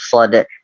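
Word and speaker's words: ص: Ya, jadi kita desiskan dulu seperti mau mengucapkan huruf sin tapi gak jadi. Masuknya ke huruf sod, sod, so, so, seperti itu, so, so, seperti itu.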